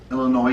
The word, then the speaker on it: Illinois: our commenters said specifically Illinois is pronounced without the SS I'm sorry for some